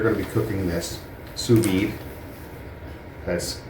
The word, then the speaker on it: sous vide: to be cooking this suid that's s o u s space v d e apparently you do pronounce the d okay so we have